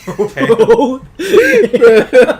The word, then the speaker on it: Brougham: It's the silent G. It I'm always naming gets you. my kid Broham. It's just Broham.